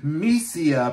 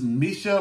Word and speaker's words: MISIA: yes I did say mesia because the the way that that I see of a pronunciation and that's not entirely correct because it is Misha without the H so I I I'm